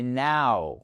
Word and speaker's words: now: Et ça, c'est pas no, c'est now.